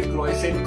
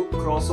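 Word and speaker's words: croissant: ना ऐसा लगेगा भाई क्रोइसेंट क्रोइसेंट लिखा हुआ है। तो जब मैंने गूगल पे चेक किया ना भाई ये कोई फ्रेंच नेम है, उसको क्रोसो बोलते हैं, क्रोसो।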